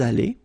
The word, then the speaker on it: allés: Nous sommes allés. You don't pronounce it.